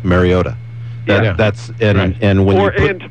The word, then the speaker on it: Mariota: Mariota. Mariota. Mariota. Not ta. No. Mariota. Oh, dear. Say it with me now. Say it. I hear too much ota there. It's not ota. It's Mariota.